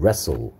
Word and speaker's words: wrestle: W와 T가 소리 안 나는 거, 레스틀레라고 소리 날것 같은데, 레스틀레가 아니고 발음은 레소. 오케이. 그래서 여기 W하고 T가 소리 안 난다는 거, 그래서 발음이 레소.